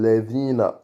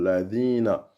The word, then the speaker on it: الذين: Siratal ladina. Et après, on a LA. D'accord? C'est la voyelle A. Et après, Dina. Et c'est un zel. C'est un Z qu'on n'a pas en français.